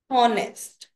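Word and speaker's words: honest: था बट ही वाज़ ऑनेस्ट बच्चे यहां पे आप कहोगे होनेस्ट लिखा है बट यहां पे मैंने कोई आर्टिकल क्यों नहीं लगाया बच्चे पहली पहली बात तो एच साइलेंट है।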